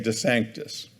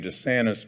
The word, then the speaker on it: DeSanctis: mother's womb, the name DeSanctis. It gets mispronounced all the time in Erie. People, have seen the name DeSantis before, and they pronounce it that way, or they misspell it that way.